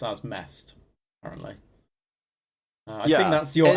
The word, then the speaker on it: MEST: Oh, it's pronounced as MEST, apparently.